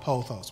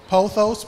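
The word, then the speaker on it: pothos: to this panel continue poos p o t h oos spelled like pot host is that's that plan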